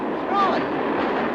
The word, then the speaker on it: Froy: Froy. Sorry, I can't hear. It rhymes with joy.